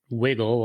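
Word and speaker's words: WiGL: That's pronounced Wiggle, like you wiggle in your chair, but it's spelled Wiggl.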